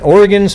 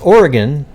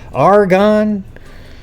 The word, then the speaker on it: Oregon: And Oregon's pronounced Oregon. Oregon. Like a best way to do it is just say Ori, O-R-Y, and then gun.